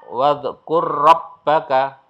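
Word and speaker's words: واذكر ربك: Ini ra bertemu dengan ra, wadhkur rabbaka, wadhkur rabbaka. Nah, jadi ini seolah-olah hilang, langsung masuk ke sini.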